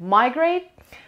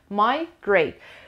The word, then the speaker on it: migrate: So British English استرسش میاد روی سیلاب دوم، American English میره روی استرسش میره روی سیلاب اول.